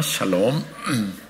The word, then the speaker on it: 샬롬: 발음을 잘 하시기 바랍니다. 샬롬입니다. 샬롬.